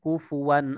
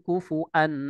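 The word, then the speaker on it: كُفُوًا: Imam Hafiz kalau membacanya bil waw dengan kufuwan, waw al situ. Tapi tidak dengan Imam Syu'bah. Nah, Imam Syu'bah mengatakan bahwasannya itu bukan waw tapi hamzah. Hamzah yang berada di atas rosamnya huruf waw. Ya. Sehingga bacanya walam yak Imam Syu'bah ya Al-Ayyash ya, salah satu perawi dari Imam Asim Al-Kufi itu membacanya walam yakul lahu kufuan ahad.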